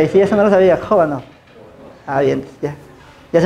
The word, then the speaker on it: Khovanov: ¿Dices Kovanov? Kovanov. Bueno, es pero creo que es Kovanov. Debería de ser, ¿no? La K y la H es J.